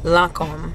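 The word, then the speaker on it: Lancôme: end Foundation I've been rocking is the lancom lancom I like saying it correctly lancom tent tent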